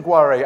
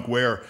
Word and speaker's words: Guare: a question and answer and somebody said Mr guare I'd like to ask you I said it's pronounced gu she said I pronounce it guare so as as someone named Joya I guess